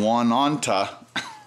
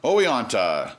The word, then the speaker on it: Oneonta: This is the last moments of being in Wananta. Wananta. Oneonta. Oneonta. Oneonta. Yeah. Oni. Like pony.